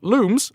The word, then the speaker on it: Lums: Lums enlightened racing lums pronounced looms apparently in this game. Who knew? We're in game nine and I've never pronounced them looms like illumination.